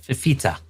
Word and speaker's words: Fifita: Um actually you know what let me there's a great thing called Google Google pronounced this. Here we go. That's how you say it. Fifita.